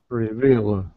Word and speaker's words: reveal: there you go reveal reveal so the second syllable is the stress reveal perfect okay all